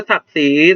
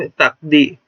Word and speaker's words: ศักดิ์ศรี: บอก ตลาด ก็ ได้ หรือ ศักดิ์ศรี ตัว นี้ นะ แต่ ไม่ ตัก ดิ แล้ว ก็ กำลัง ตัว นี้ ไม่ ออก เสียง ดิ นะ ครับ เพราะ ว่า